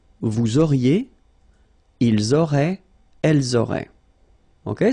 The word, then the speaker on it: auriez: Vous auriez, liaison here, and then EZ will go like E. Vous auriez, okay, and the last one.